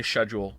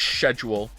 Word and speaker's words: schedule: I am British, and I really don't like it when people say schedule. That bothers me. That's like saying herb without the H to me. I really don't like schedule.